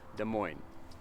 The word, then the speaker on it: Des Moines: and it is pronounced Des Moines no s the S is silent off the end now Des Moines is